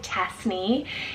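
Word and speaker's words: Tesni: sweet and peaceful next is cassney felt t-e-s-n-i tasny it's a well-shruted name meaning warmth of the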